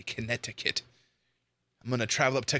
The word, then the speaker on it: Connecticut: We pronounce our T's as D, so we say like Connecticut instead of Connecticut.